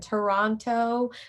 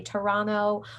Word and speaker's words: Toronto: We also have things like we call lazy letters, like the T you hear in Toronto. Most people don't say it like I just did. They say Toronto.